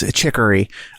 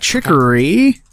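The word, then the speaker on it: Chicory: It is Chikory. Uh Chikory.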